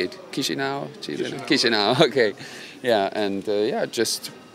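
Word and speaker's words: Chișinău: Chisinau.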